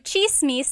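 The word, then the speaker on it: tsismis: One thing, in Tagalog, it's spelled with a TS. The TS combination makes that ch sound.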